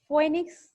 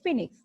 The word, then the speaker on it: Phoenix: ফয়েনিক্স বা এটাকে উচ্চারণ করা যায় ফিনিক্স, PHOENIX, ফিনিক্স ড্যাকটাইলিফেরা।